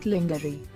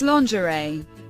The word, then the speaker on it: lingerie: day it's Wednesday Wednesday lingerie please do not try to pronounce it the way it's spelled it's not lingery it's lingerie product process rendevu the